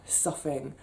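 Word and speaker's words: soughing: should have done but it's spelt s o u g h ing suffing but that noise that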